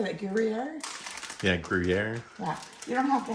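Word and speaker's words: Gruyère: Yeah, Gruyere.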